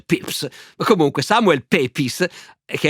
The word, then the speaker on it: Pepys: si chiama Samuel Pepys, scritto Pepys, io ho scoperto adesso che si pronuncia Pepys, ma comunque Samuel Pepys,